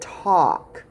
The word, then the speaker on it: talk: there's a difference okay this is talk like tick tock that's not what i said talk talk all right did you hear alk or special sound aw can walk that was it t and then a-l-k talk now we're gonna make